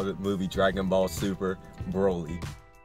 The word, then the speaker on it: Broly: movie Dragon Ball super Broly I said it right this time not brawl and this movie pretty